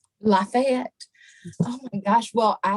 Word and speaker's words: Lafayette: the woman of chateau now i want to say la fit but is it lafayette how do we pronounce it i would say lafayette lafayette oh my gosh well